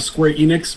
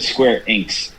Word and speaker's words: Square Enix: after i watch the movie but we have square enix presenting on sunday june 13th as well and